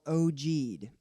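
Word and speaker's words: ogee: they've adjusted perfectly whereas those splines have now oh g'd oh that's spelled og ee it's a word and it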